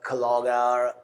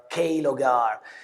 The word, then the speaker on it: Klogr: is strange but uh you can pronounce clog kogar kogar.